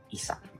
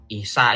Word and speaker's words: Isa: Isa ini juga Islam di bawah. Jangan Isa. Pronunciation yang benar, Isa kalian itu pakai ain, bukan pakai alif.